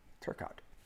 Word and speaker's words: Turcotte: Pronounce Turcotte, silent E. Gotcha. Turcotte.